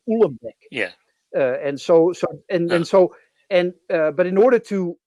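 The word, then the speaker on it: Uhlenbeck: And so I can with great authority pronounce the names of the two people who introduced that. That's Goudsmit, Yeah. Goudsmit and Ulembeck.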